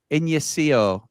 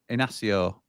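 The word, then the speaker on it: Inácio: It's pronounced Inacio. Yeah, Inacio.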